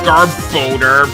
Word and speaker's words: Garbodor: Okay, I know it's pronounced Garbodor, but Garbodor sounds a lot better because it actually sounds like we're saying garbage.